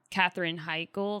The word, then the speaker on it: Katherine Heigl: Katherine Heigl, is that how you say her name?